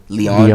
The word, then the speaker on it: Lyon: Is it Lyon? How do you say it? Leon.